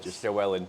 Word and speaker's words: Llywelyn: these accents a little bit funnyer can't so lellan is your first name so how would you pronounce that in Wales sellen so the Double L in Welsh is pronounce